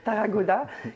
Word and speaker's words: Tarragona: la photographie Scan Tarragona, c'est ça, je le prononce bien, oui. Tarragona, qui s'est déroulé entre le mois d'octobre 2023 et le mois de janvier 2024.